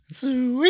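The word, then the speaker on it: Zoë: There is an umlaut over the E as well. So I think you pronounced it right. Zoe. Yeah. Zoe. I think that's what an umlaut does. Gives it a bit of a kick.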